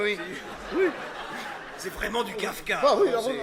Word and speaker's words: Kafka: C'est vraiment du Kafka. Ah oui, C'est- heureusement que vous prononcez le F.